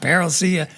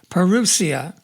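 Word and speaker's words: parousia: We're going to start pronouncing that correctly. is not perilous, perusia.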